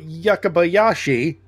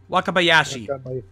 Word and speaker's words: Wakabayashi: So, did you know that Makoto Yakabayashi, am I saying it correctly? Wakabayashi.